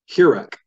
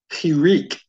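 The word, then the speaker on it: hiriq: You'll notice down here, it's just hirek. Technically, it's hirik. That's really hard for English speakers to say hirik. Many people tend to pronounce this as hirek. Either one is certainly fine.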